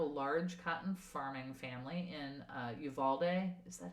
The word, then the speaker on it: Uvalde: They were a part of a large cotton farming family in Uvalde. Is that how you say it? Uvalde.